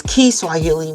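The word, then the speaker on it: Kiswahili: African language called well we call this Swahili but the correct way to pronounce it is keyily when you're talking about the language we have used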